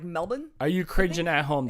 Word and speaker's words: Melbourne: canbra or Melbourne Melbourne Melbourne actually like you don't pronounce the r at all it's more like Melbourne are you cringing at